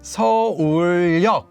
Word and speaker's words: 서울역: So Seoul Station is pronounced as 서울역, 서울역. So it adds, wait a minute, this is not a ni은.